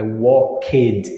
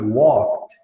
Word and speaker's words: walked: assim, tu nunca vai pronunciar o E no final dos verbos regulares, tá, pessoal? Eu assisti, I watched, e não I watched. I walked, não, I walked.